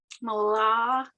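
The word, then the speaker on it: מלכים: So let yourself pronounce the M, right? So just keep your mouth closed, then go to the lamed. Malachim. Perfect. Malachim.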